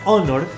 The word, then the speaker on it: honor: house por otro lado tenemos honor que la h es muda por lo tanto llevamos